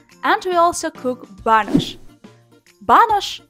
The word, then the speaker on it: banush: Banush translates and pronounced simply like banush. Banush чи banosh. This is the same.